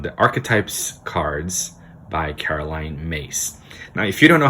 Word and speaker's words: Myss: everybody by from the archetypes cards by caroline mace now if you don't know how to pronounce her name i didn't for the longest